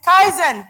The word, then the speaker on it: kaizen: I I did so why do you need Kaizen the word is actually pronounced Kaizen and it's a Japanese word that